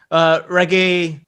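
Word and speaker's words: Regé: Reggae is how you pronounce his name, I believe.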